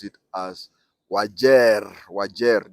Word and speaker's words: Wajir: writing but people from outside nor Eastern we pronounce it as wagia wagia w a j i a I don't